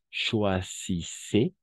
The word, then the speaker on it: choisissez: Si vous voulez acheter du bon pain le dimanche matin, choisissez, la Z no se pronuncia, choisissez une boulangerie où beaucoup de gens attendent hasta la D, porque ENT es mudo como aquí mange igual, ¿no?